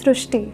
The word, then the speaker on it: Srishti: So in Marathi, the word Ri is pronounced as Ru. So that is why the pronunciation goes Srishti.